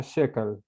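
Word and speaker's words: Schökel: o K e l así se escribe pero se pronuncia Chécale Okay muy bien y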